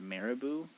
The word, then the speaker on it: Marabou: my favorite chocolate and it's i think it's pronounced marabou but was it the one from ikea the